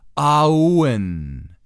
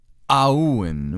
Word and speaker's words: Awen: that this is pronounced Owen aah - oh-oh - Ian ah when Owen with the emphasis on the ah so the Owen as